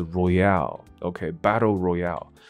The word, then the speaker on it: Royale: 所以游戏方面的这个字不念作 royal， royal 这个字是皇家，那它是 Royale， OK， Battle Royale，什么意思呢？